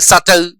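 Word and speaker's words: subtle: B silent है, सटल, date, doubt, इनमें B silent है।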